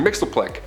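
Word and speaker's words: Mxyzptlk: even translate into earth's languages but we collectively pronounce it as mr mixelplick he can manipulate anything and everything he's nigh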